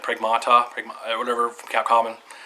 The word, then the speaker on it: Pragmata: Supposedly that Pragmata game, I think that's how you say it, Pragmata, whatever, from Capcom, it's coming to Switch 2.